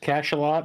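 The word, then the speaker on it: Cachalot: consistently missed on the same roll yeah it's pronounced cash a lot and it's actually a French word for big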